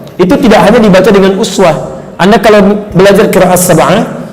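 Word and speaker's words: أسوة: Itu kalimat uswah, kata uswah, itu bisa dibaca dengan riwayat iswah.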